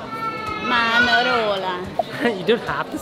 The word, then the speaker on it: Manarola: So, we have just got off the train in a place called Manarola. You don't have to say it like that. Manarola.